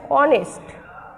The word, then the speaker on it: honest: শব্দের প্রথমে যদি এইচ থাকে তাহলে শব্দের প্রথমে যদি এইচ থাকে এবং এইচের উচ্চারণ হয় না, তারপর থেকে উচ্চারণ হয়, সেখানে আর্টিকেল এন বসবে।